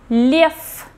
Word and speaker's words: лев: So you can see at the end is a voiced consonant V, but as it is located at the end of a word, it will become voiceless. So we pronounce it as F.